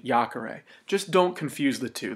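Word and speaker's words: iacere: so it's yak ara to throw is a short e third conjugation Jacare just don't confuse the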